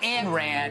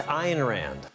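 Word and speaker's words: Ayn Rand: Rand or an Ron or over the moderns pronounce it IR Rand not an Rand a Rand iron Rand I'm told it's iron Rand iron Rand became famous for her philosophy of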